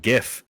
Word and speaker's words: GIF: graphics in the hypothetical gif are not the same thing except graphics is part of gif it's the g that's why it's a hard g so the the titan